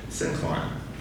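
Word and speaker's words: syncline: sink line and the let me get that pronounced right sincline.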